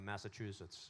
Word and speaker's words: Massachusetts: How do you say Is it Massachusetts? There's no T in it. I know a lot of people say Massachusetts, but it's no T. No, it just kind of runs together, Massachusetts.